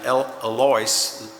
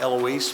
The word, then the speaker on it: Eloise: and Eloise, it looks like Eloise, but they pronounce it Eloise, Bradshaw Houchins, and whereas